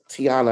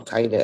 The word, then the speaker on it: Taina: And I didn't even give Tiana, I always say your name wrong, Taina.